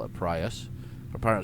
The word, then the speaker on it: Prius: There's a Prius, or Prius. I call it Prius.